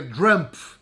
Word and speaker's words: Trump: Não é, não é mal pronunciado. É Drump com D e com F no fim.